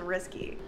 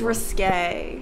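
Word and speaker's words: risqué: pet peeve you know it's not pronounced risky you could say risky business risque whatever it's risque if that's your biggest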